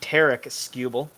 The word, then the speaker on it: Tarik Skubal: t taylor or tyler uh it was actually tarik skubal i i and you know what i i